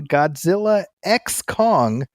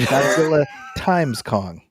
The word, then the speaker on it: Godzilla x Kong: as I call it Godzilla times Kong yeah I know apparently you're not supposed to say it that's what I heard on another podcast the director had said no the ex is silent I'm like what does